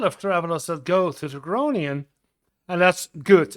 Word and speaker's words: Groningen: Yeah, I can't pronounce exactly the Dutch way yet, but that's okay. Groing. Yeah, the G and the R is railing a rolling R, and that's make it more difficult.